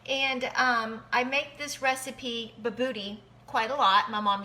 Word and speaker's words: Bobotie: It's pronounced Bobotie, but we like to say Bobotie because it sounds funny.